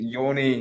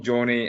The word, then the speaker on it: Yoni: And just quickly before we go back to Derby chat briefly, the German fullback, so Yoni Meyer, pronounce it Yoni, not Johnny, and Neil McCann was pretty insistent on that on Friday.